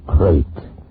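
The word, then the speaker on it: krait: of a snake the crate is first the crate they spell it k r a i t they're in India the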